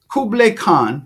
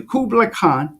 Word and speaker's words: Kublai Khan: it's so deep I read that Kubler Kublai Kublai Khan you have to pronounce his name correctly Kublai Khan Kublai Khan who was the Khan the Khan